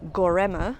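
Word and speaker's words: Göreme: comprised of five different cities I am in gorma it's looks like it's spelled gorm but the E is at the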